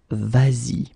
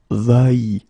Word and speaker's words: vas-y: normally va like that, you will have to modify it and put this s here just to get the sound vas-y instead of va-y.